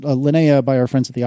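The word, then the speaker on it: Linea: really really like lanaa I think that's how we they were we were told to pronounce it lanaa by our friends at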